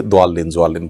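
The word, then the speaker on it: الضالين: এটা একেবারে ডাইরেক্ট দালের মতো না, আবার জোয়ালিন হলে জোয়ার মতো না।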